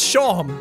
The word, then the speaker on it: Seam: The name's Seam. Pronounced Shawm. Oh my god! Oh, I've had this happen to me in real life. Your name's Shawm. It's like Sean.